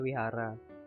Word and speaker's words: Vihara: ibadahnya Vihara di Wihara ya sedikit tulisannya Vihara dibacanya Wihara lalu ini jangan sampai